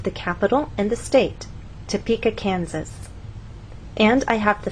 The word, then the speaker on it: Topeka: For example, if you tell any American that you have friends in Topeka, Kansas, they're going to look at you and ask, what country is that in? What continent is that on? But if you move the stress to the correct place and try again, tell the Americans that you have friends in Topeka, Kansas, now they'll understand.